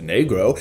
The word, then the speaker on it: negro: to help children learn negro pronounced negro is the appropriate word a spanish-speaking child would use for the color black we hope this helps